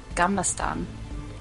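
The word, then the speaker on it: Gamla stan: How do you pronounce it? Gamlastan.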